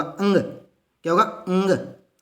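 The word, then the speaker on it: ङ: ख ग घ ये, इसको अड़े नहीं बोलते दोस्तों, क्या नहीं बोलते, अड़े। बचपन से हमारी जो आदत पड़ी हुई ना, कै ख घ ड, अड़े नहीं है, ये क्या होगा, इसका उच्चारण होगा अंग।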